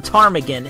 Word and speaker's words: ptarmigan: The P in ptarmigan is silent, isn't it?